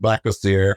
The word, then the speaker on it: Black Azar: And then my poet pen name is Black Azar. Pronounced Black Azar, however, it just means black God.